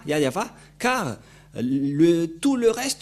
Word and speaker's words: Yahvah: de Mosé si vous ne prononcez pas yayava car le tout le